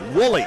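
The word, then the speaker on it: Nwuli: Spell the last name N-W-U-L-I. Woolley is how it's pronounced.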